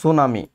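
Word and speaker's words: tsunami: সংঘটিত পারে সেটি হচ্ছে সুনামি কি হতে পারে সুনামি পরীক্ষার জন্য সুনামি বানানটা পরীক্ষায় আসে সুনামি বানানটা ইংরেজিতে হচ্ছে সুনামি সুনামি সুনামি সুনামি এটা হচ্ছে বানানটা হচ্ছে টি এস ইউ সুনামি সুনামি সুনামি এই বানানটা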